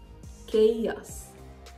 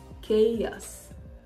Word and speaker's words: chaos: talk about words where the h letter doesn't start it it's in the middle but it is absolutely silent for instance anchor anchor okay yes chaos chaos Melancholy melancholy so I'd